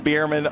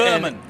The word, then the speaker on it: Berman: I've been saying Bierman all year. So Brady, wish you were here. It's Berman.